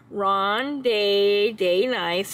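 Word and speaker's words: Ronde de Nice: that this is our Ronde day nice again don't have a stutter that's how you say it but this is our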